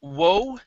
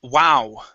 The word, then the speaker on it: wow: you um this word instead of woe it's wow wow okay whoa whoa was